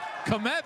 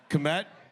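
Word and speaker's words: Kmet: I mean, it's spelled weird. What? It is. He's right. Billy, can you spell Komet? It's like there's letters missing, right, Stu?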